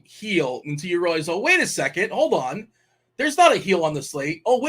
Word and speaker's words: Gil: It's a soft G. It's a heel. Yeel. Luis Yeel. Yogging. It's heel, just like your foot, like heel.